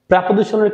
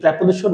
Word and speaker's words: preposition: প্রিয় শিক্ষার্থী বন্ধুরা, প্রাপজিশনের ক্লাসে তোমাদের সকলকে স্বাগতম। প্র্যাপজিশন ইংলিশের জন্য একটা খুবই খুবই একটা গুরুত্বপূর্ণ চ্যাপ্টার। এই প্রেপোজিশন না শিখলে তোমার রিডিং স্কিল ডেভেলপমেন্ট করা অলসো রাইটিং।